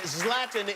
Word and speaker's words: Zlatan: Zlatan is the correct pronunciation, yes?